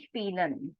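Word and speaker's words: spielen: ASI Vel eari ZZ spel SP means to play so you cannot pronounce it as p because then nobody would understand it is sp IE combination the sound will be e coming for forward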